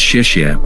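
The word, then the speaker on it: 谢谢: Thank you is pronounced as shishia but I am not able to pronounce it.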